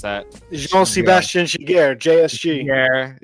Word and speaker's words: Giguère: You said Quick, Miller, Shijar, or whatever you pronounce that. Jean-Sebastien Giguère, JSG. Giguère, and Henrik Lundqvist, the one dude who doesn't have a championship on that list.